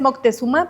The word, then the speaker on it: Moctezuma: Sí se sabe, por ejemplo, que cuando Moctecusoma recibió a Ay, perdón, esa es la pronunciación. Eh, este, la prehispánica es Moctezuma, pero es Moctexoma, ¿no? Ay, me encanta esa pronunciación.